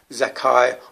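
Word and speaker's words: Zaccai: um the children of zakai numerical number h214 still pronounce zakai although spelled z-a-c-c-a-i or how he wants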